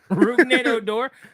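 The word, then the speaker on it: hors d'oeuvre: handing you odor yep what is it rud odor spell it out h o r s yeah d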